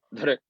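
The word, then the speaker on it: धृ: Entonces se pronuncia como dr, como si quisieran pronunciar una R sin vocal, aunque naturalmente emerge una pequeña I o una E.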